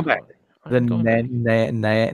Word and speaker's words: Nanaimo: How do you pronounce that? Go back. all right, Go back. I'm The going back. Nanaimo. Nanaimo.